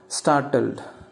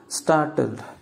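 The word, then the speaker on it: startled: ஸோ ஷாக்குக்கு வந்து பார்த்தீங்கன்னாக்கா, அட்வான்ஸாக நம்ம என்ன வேர்ட் யூஸ் பண்ணலாம் அப்படின்னு பார்த்தீங்கன்னாக்கா, ஸ்டார்டல்டு. நல்லா அப்சர்வ் பண்ணுங்கள், நான் நடுவில் வர்ற அந்த ஆர் வந்து ப்ரொனவுன்ஸ் பண்ணல, ஆர் வந்து சைலண்ட், ஸ்டார்டல்டு.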